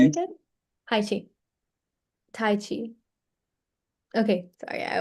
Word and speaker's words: Tai Chi: Tai Chi.